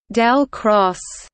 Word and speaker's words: ∇×: The time symbol pronounced del cross denotes the curl operator.